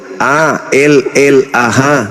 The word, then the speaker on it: Allah: Itu ada, itu A-L-L-A-H. Itu ada. Ya, itu bacanya apa? Allah. Karena ini berasal dari Quran, maka kami membacanya Allah.